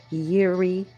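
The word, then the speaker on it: Jireh: And the name for provider in the Hebrew language is Yuri, which is spelled Y I R E H.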